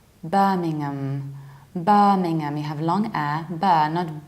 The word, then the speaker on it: Birmingham: is Birmingham young it's so tasty from youngnam birmingham bus don't exaggerate don't say berming mm-hmm because that's a bit too much you have to pronounce this mmm Birmingham Birmingham I used to work in Birmingham not